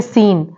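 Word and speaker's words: scene: पे सी साइलेंट है next word है सीन अब सीन में क्या है आफ्टर एस के बाद अगर जो सी आएगा वो साइलेंट होगा तो एस के बाद सी आ रहा है वो यहां पे साइलेंट है सीन में ऐसा ही वर्ड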